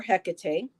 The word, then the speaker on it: Hecate: The Greek goddess of crossroads and the in between, Hecate, or Hecate, her name has been pronounced that way as well, welcomes you to her domain and reminds you that neither place is your home.